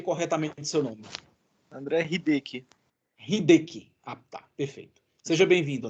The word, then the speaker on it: Hideki: Só me corrija se pronunciei corretamente seu nome. André Hideki. Hideki.